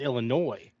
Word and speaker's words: Illinois: And then I recently found out it's Illinois. No S. No S. Well, there is there is an S, but you don't say the S. Yeah. Yeah, a little silent S action.